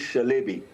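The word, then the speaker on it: Çelebi: See first thing is when Celibby they pronounce it Shalbei and that company was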